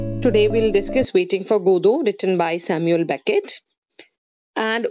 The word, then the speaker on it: Godot: Today we'll discuss Waiting for Godot, written by Samuel Beckett. And what is Waiting for Godot? First of all, it's important that its pronunciation is Godot. It's not Godot, it's Godot, G-O-D-O-T, Godot, Waiting for Godot.